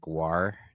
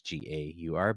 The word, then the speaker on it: Gaur: It's not like Gwar, Gwar, it's Gaur, but I wonder if the author intended that on purpose.